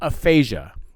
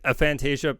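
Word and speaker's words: aphantasia: um but actually uh Aphasia Aphasia it's it's a p h a n t a s i a so it's a I'm I'm over pronouncing a Fantasia was probably okay okay but um they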